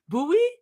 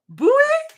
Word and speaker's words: buoy: Buoy. Buoy. That's That's how it's spelled. That's how it's read. Buoy. Buy. Guys, the English language is so weird.